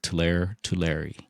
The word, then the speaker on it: Tulare: How do you pronounce it? Tulare.